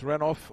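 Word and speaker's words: Renouf: just checked with Caron whether it's renoff or Renu because of some of the uh some of the arguments over the years over the great Steve roff's pronunciation he said renoff that's fair enough to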